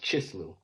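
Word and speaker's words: Chislev: So yeah, the ninth month is pronounced Chislu.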